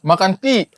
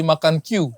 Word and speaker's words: Makan Q: Makan ki. Makan ki. Tulisan kan makan Q. Makan ki. Sebenarnya tuh bacanya makan ki kayak orang Makassar.